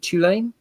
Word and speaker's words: Tulane: Have I pronounced that correctly? Is it Tulane?